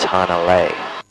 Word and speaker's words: Hanalei: This is Hanalei. Didn't quite rhyme with sea, so we just had to tweak it a little bit.